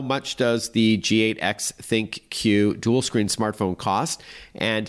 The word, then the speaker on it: ThinQ: And it's spelled G8X, one word, G8, then letter X, and then think Q, which is T H I N, the letter Q, dual screen.